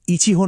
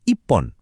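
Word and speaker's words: 一本: কিন্তু এখানে একটা মজা আছে, সংখ্যার সাথে এর উচ্চারণটা একটু পাল্টে যায়। তাই একটা ছাতার জন্য ইচিহোন না বলে ওরা বলে ইপ্পন।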